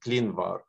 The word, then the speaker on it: ClinVar: So the first question is, you, by the way, Jody, you pronounce it very exactly. This is ClinVar.